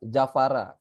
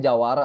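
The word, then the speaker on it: Javara: Jafara dibacanya Jawara dibacanya sebenarnya.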